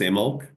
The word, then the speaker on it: Imbolc: it's called, so in Gaelic Celtic, it's called Imbolc. Imbolc. Imbolc, which is spelled Imbolc, Imbolc, but it's pronounced Imbolc.